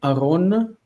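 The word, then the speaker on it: אָרוֹן: We want to go to Aron. Okay. Ah, this does not have reduced first syllable.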